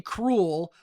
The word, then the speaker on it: Kreul: C and the OO, now it's actually cruel, but it's spelled with a K.